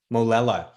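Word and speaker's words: Molella: Molela.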